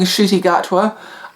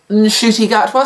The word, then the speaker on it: Ncuti Gatwa: We've got 15th Doctor, who I've been calling Ncuti Gatwa. I've now learned his name is pronounced Ncuti Gatwa, so I will do my utmost to pronounce his name correctly.